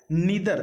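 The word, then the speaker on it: neither: Question क्या है कि नीदर, देखिए बहुत लोग इसको नाइदर भी पढ़ते हैं, नीदर भी पढ़ते हैं, दोनों प्रोनाउंसिएशन सही है।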